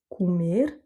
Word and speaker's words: comer: Comer. Donc ici, le mot se termine par un R, donc l'accent tonique se fait sur la dernière voyelle, et donc le O qui se situe avant se prononce OU.